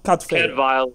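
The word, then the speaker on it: Cadfael: Cadfail is the Welsh pronunciation. Okay, Cadfail, Cadfail, okay, yeah. With the V sound.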